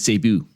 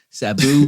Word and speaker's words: Sabu: to taz taz and cebu there you go say it right sabu because when i went